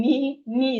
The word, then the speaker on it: knee: The K in knee is silent.